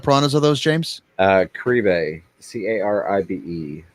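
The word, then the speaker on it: caribe: are those james uh crebe c-a-r-i-b-e i've also heard it pronounced karib karibe piranhas so they're vicious vicious fish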